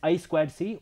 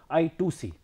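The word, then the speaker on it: I²C: the inter integrated circuit when pronounced as i square c or some people called it as i2c other synchronous communication protocols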